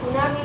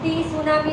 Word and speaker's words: tsunami: सुनामी में टी silent होता है, हम टी सुनामी नहीं बोलते हैं, टी इज a silent here.